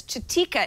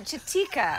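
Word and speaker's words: Chitika: it easier come on chatika i want to say chiquita it sounds like chiquita but it's not spelled like chiquita chatika c-h-i-t-i-k-a um uh shatika insights surveyed a sample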